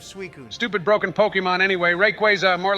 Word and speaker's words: Rayquaza: have to catch it it's pronounced Rayquaza no it's not you idiot let me guess you're one of those guys who says graer instead of grer Rayquaza is correct whatever I don't care